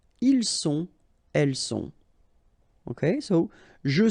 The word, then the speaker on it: ils sont: Ils sont, final T not pronounced.